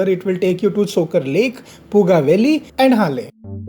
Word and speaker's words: Tsokar: T is silent always. So Tsokar is not the one, it's Tsokar Lake.